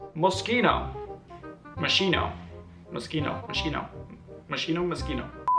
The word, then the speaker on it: Moschino: Moschino.